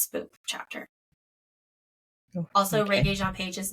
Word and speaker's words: Regé-Jean Page: Ron Jean Page. Damn it, Regé Jean Page.